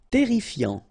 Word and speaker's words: terrifiant: Terrifiant, final T not pronounced, double R here, so it will open the pronunciation of your E, and then it will be E, terrifiant.